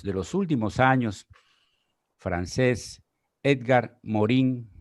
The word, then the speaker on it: Edgar Morin: los últimos años francés edgar morin o edgar mohan como se pronunciaría tal vez en francés nos dice en estas